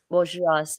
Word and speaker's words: bourgeois: h used to be seen as too uptight bourgeois is that how you pronounce that oh yeah bourgeois okay even by middle-aged women interesting question let